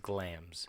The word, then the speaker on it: Glamis: It's Glamis, but it's pronounced Glams.